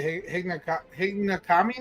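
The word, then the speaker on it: Higonokami: Obviously, I'm glad that you have the picture of Hiroshi holding up the Hinagami knife. I think it's how you pronounce it, Hinagami. It's HIGONKNAMI knife, and they're pretty cool knives.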